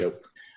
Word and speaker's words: Yope: Yope. Rhymes with hope.